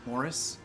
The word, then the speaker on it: Maurice: like is this book Morris it's spelled like Maurice but it's pronounced Morris come it's by e